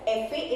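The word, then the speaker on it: efe: So F is pronounced as eh-feh in Spanish.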